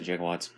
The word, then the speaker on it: gigawatts: year 1985 power 1.21 technically it's gigawatts but they pronounce it jig Watts fuel plutonium activation speed